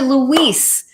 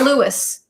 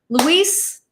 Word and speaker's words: Luis: But back to Luis and not Louis. Luis, I'm sorry, man. I said your name wrong.